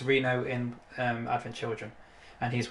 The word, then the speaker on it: Reno: a failure and that car brand his name's Reena oh it's pronounced Reno in our children and he's one of the